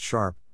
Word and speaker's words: SHRP: Users can click or hover the cursor on any marker on the map to see the state code and SHRP, pronounced sharp, ID of the corresponding test section.